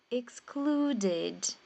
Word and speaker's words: excluded: então como é o d aí você vai pronunciar esse e e é um e fechado é e excluded excluded é como se fosse um e com